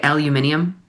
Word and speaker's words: aluminium: How do you say aluminum? Aluminum. Isn't the Brits that say aluminium?